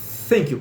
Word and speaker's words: thank: Thank you. Coloca a língua entre os dentes, né? Thank you. Pronuncia uma coisa mais ou menos como um F, né? Uma coisa meio F, meio S, assim.